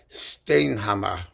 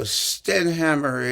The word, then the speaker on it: Stenhammar: Swedish composer Wilhelm Stenhammar, who actually in Swedish is pronounced more like Stenhammar or something like that, but I don't care. As you know, I Americanize or simply Hurwitzize everything. So Stenhammar it is.